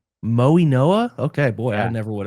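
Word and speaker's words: Mauigoa: Um, he's How is it pronounced? Francis what? It's Moy Noah. Moy Noah.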